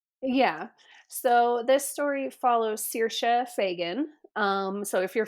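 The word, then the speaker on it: Saoirse: pretty yeah no yeah so this story follows CA Fagan um so if you're familiar with Hollywood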